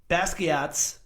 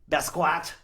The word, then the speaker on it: Basquiat: Basquiat. Basquatch.